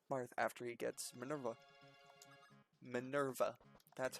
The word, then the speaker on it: Minerva: Minerva.